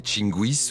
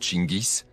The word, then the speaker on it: Gengis: Genjis que l'on peut aussi prononcer Tinguis ou Chingis d'abord baptisé Temuin était et reste encore un des plus grands conquérrants de l'histoire.